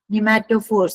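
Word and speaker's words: pneumatophores: निमेटोफोर्स। Piece silent है निमेटोफोर्स।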